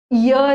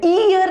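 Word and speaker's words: year: इसका pronunciation ईयर है। इयर नहीं है। ये वाला जो इयर होता है ना कान वाला ये है इयर इ अ आ इ ई में आता है।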